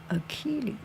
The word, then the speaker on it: Achilles: A C C H pronounced key. A C H I L L E S. Ailles. Achilles.